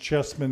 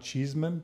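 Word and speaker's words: Chesman: is telling us that it's chessmen Paul's last name is pronounced chessmen not Cheeseman okay thank you she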